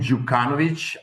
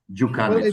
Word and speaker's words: Djukanovic: And again, my last name, Jukanovich, uh Jukanovich. So, yeah, it's actually quite easy to pronounce.